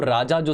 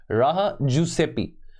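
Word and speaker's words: Raja-Jooseppi: इसको प्रोनाउंस करते हैं इसको राजा जो सेपी मत कहना इसको फि फिनलैंड की भाषा में प्रोनाउंस करते हैं राहा राहा जुसपन आप की मातृभाषा तो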